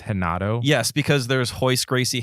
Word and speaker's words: Renato: side of the family all the r's are pronounced like H's it could be a Portuguese thing I'm not sure but